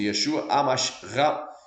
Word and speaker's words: Yeshua: hebraico então é Yeshua ra Masi exatamente a pronúncia Yeshua Yeshua Rami Jesus o ungido Amém em grego